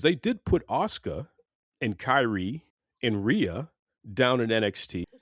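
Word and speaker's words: Kairi: Kyra. Kyrie.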